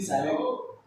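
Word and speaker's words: Psilopsida: एक क्लास और है जिसका नाम है साइलो यहां पर पी साइलेंट पी साइलेंट रहता है साइलो और इसमें एक मेंबर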